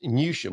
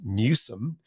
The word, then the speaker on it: Newsham: I enjoyed this from Paul Johnson, who helpfully pointed out you mispronounced Newsham, which of course is Newsome, in the good news section on last week's show.